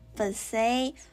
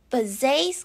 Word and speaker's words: Bizet: And also it's kind of like in between the French pronunciation Bizet and the English pronunciation Bizet.